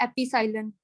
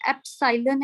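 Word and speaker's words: epsilon: कई बच्चे ऐसे बोलते हैं एपिसाइलन, ठीक है, ऐसे नहीं है, एप्सिलॉन है, इट इज एप्सिलॉन नॉट।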